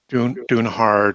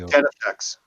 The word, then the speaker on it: Denefex: It's not Dunehard or. No, he says Denefex.